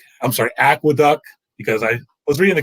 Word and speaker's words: Aqueduct: from oaklawn fairgrounds uh aqua duck i'm sorry aqueduct because i was reading the comments and somebody kept getting on me for mispronouncing aqueduct as aquadoc but same as i